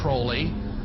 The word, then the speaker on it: Crowley: have his name pronounced Crowley to rhyme with holy and uh the satanists